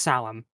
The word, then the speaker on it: Samhain: So the aspect behind this tradition, more or less, yeah, that's how it's pronounced, Salem.